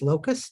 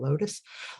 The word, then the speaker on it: locus: it wrong every time it's locusts not Lotus Locus um which is also